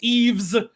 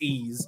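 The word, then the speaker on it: Ys: for bikini bottom rehydrated eaves uh ease eight la cremosa of da na uh and they even told us in the post it's pronounced ease so they kind of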